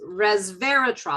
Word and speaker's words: resveratrol: but it's the how do you say it resveratrol was very tall does that make sense does that word sound familiar no but i wonder whether um grape juice has the same effect without the alcohol it's resveratrol i did say it right um it's a